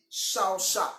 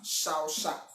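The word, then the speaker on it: shâchâh: Dans ce texte là, le mot qui désigne adorer est un mot hébreu qui se dit shaosha, shaosha. Ça s'écrit comme vous l'entendez, S-H, A accent circonflexe, C-H accent circonflexe, H à la fin.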